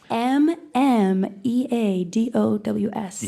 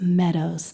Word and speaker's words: mmeadows: some confusion out there m-m-e-a-d-o-w-s and it's not M Meadows it's just Meadows the first m is silent all right well listen